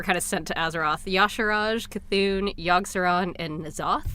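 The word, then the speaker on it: Y'Shaarj: that that were kind of sent to Azeroth Yash Raj c'thun youngster owned and nosov and I researched how to say Yoshi Rajesh because look how that's spelt you sure jet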